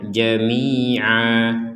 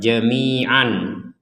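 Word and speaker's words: جَمِيعًا: Selanjutnya di sini ada tanwin ya fathatain kemudian ada alif. Maka di sini kita membacanya jamia dibaca satu harakat bukan dibaca dua harakat. Jadi bukan dibaca jamian tidak dibaca jamian tapi kita baca jamia.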